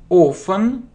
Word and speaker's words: often: I often. Вспоминаем, как произносится с первого урока. Often. Т не читается.